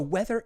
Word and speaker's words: whether: So it's a good one to know, and it's a homophone for the word weather, which you already know. You just have to realize that it is spelled differently than weather, but pronounced exactly the same, okay?